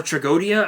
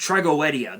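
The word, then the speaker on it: Tragoedia: only problem is that the card traguetia or tragodia as some people can't call it's pronounced some people call it tragodia it's pronounced trigoedia that's how it's pronounced keep that in mind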